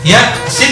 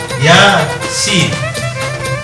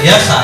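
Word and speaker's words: يس: dibaca ya sebagaimana aslinya ya Sin dibaca Sin sebagaimana aslinya sehingga nanti bacanya yaasin artinya enggak boleh Yasa tapi Yasin dibaca sesuai dengan huruf aslinya ini namanya huruf muqah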